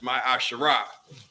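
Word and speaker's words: מעשר: three eight through ten means 10th in Hebrew and it's pronounced my asherah ten percent of every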